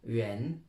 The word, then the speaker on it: 人: Et pour dire je suis français, 我是法国人 R-E-N. Le R se prononce J.